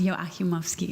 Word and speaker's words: Joachimovsky: My name is Yakimovski, and I think that Dr. Ronald probably has the number one unpronouncable surname, but I'm a close second here with my husband, Miha. Our last name is pronounced Yakimovski, if you care to try it.